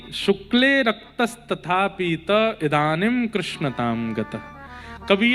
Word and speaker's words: कृष्ण: कृष्ण, इस शब्द का उच्चारण कई लोग शुद्ध नहीं करते। क्योंकि शुद्ध कर लेंगे तो फिर भगवत प्राप्ति हो जाएगी। इसलिए सब लोग इस नाम को, कोई किशन बोलता है, कोई कृष्ण बोलता है, कोई कुछ बोलता है,